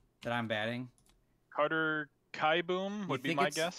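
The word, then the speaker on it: Kieboom: that i'm batting carter kai boom would be my guess you think it's kai boomer boom it's kai boom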